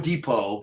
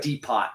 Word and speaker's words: Depot: Home Depot. Careful. depot. It looks like deepot, but it's pronounced depot.